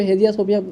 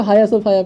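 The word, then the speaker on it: Hagia Sophia: ठीक है, इसको हेजिया सोफिया नहीं बल्कि हाया सोफाया पढ़ते, बहुत सारे हिंदी न्यूज़पेपर में हम इसको हेजिया सोफिया लिखा हुआ देख रहे हैं। ठीक है। तो काफ़ी दुख होता है जब कोई गलत प्रोनाउंस करता है, तो इसको हाया सोफाया पढ़ते हैं। इट इज़ हाया सोफाया इसका रियल प्रोनाउंसिएशन है।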